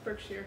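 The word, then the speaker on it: Berkshire: I am drinking a birkshire birkshere. Birkshere. I don't know how to say it. Birkshshire like the huts. It's Birkshshire.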